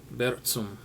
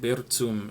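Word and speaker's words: Burzum: Notice I said Brzm and not Brzm. That's because the creative person behind Brzm, Varg Vikernes, he took the name. It's actually from Middle Earth, J.R.R. Tolkien universe, and yes, that's how it's pronounced.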